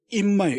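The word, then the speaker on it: אמא: 그리고 아람어 엄마는 임마예요. 임마.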